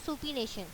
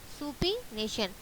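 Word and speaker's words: supination: अब इसको सुपीनेशन, इसका जो प्रोनाउंसिएशन है वो क्या है, सुपीनेशन, सुपीनेशन।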